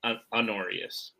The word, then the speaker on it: Honorius: honorius Julius and Maximus that first name also pronounced anus anus sorry silent h all good Tim we